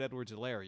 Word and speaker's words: Edwards-Helaire: mean you tackled clyde edward zelaire yet and that's to me those are the combinations age of silent h is silent uh ellen did it